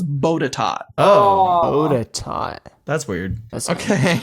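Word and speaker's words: Botetourt: So, you don't pronounce the last R. So, it's bodat.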